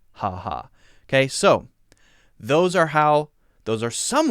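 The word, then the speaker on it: χαχα: The last one is Greek, and in Greece people write X-A, X-A, X-A, and I believe that is just pronounced ha-ha, ha-ha.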